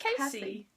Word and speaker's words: Kasie: on the fence by is it Cassie or Casey I think Casey if it was Cassie you'd have double s Casey Wes it's bi